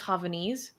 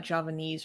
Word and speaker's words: Javanese: close it's close it's it's spelled with a J like Java Javanese or something in that language